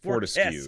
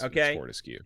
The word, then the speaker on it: Fortescue: Fortescue is how you say it. It's Fortescue.